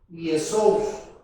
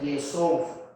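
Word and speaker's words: Ἰησοῦς: Por ejemplo, vea, la palabra griega que ahí aparece primero, así en griego, es Yesous, así se pronuncia, Yesous.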